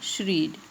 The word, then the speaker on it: shrieked: 8th, gave a short high pitched cry, दी एक छोटी लेकिन ऊंचे स्वर वाली चीख, क्या है, श्रीड, SHRIEKED, श्रीड। इसमें ये साइलेंट होता है।